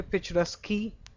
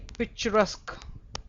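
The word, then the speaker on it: picturesque: This is actually pitchusk. Okay. So this is the same concept that goes here. This q u e is always pronounced as c.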